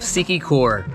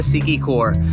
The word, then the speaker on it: Siquijor: destination which is the island of sikicor we think that's how it's pronounced in order to get